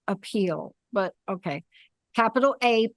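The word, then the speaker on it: Apeel: from I'll spell it if you say it you want to say appeal but okay capital a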